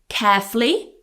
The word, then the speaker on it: carefully: So, you can say carefully, two syllables, carefully or carefully with three carefully.